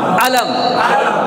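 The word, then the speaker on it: أَلَمْ: ও টান আছে? টান নাই, কারণ এখানে টানের কোনো কি নেই, চিহ্ন নেই। তাহলে দ্রুত হরকতের উচ্চারণ তা থেকে পড়তে হবে।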